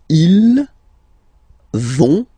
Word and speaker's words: ils vont: So ils vont, final T not pronounced, ils vont, and then feminine form, elles vont.